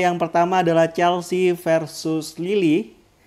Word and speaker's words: Lille: Adalah yang pertama adalah Chelsea versus Lille. Lille ya? Bacanya Lil.